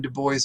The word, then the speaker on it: Du Bois: name is not pronounced Dubois. I know many people, if you know any bit of French, you would think it's pronounced Dubois.